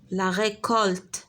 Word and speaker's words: récolte: Et dans récolte, C se prononce K.